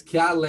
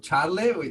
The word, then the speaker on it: Chiarle: you virtually um so my last name is so difficult to pronounce because originally i'm from italy so colin you did quite well uh mark is a step ahead because it says keala instead of charlie two years for mark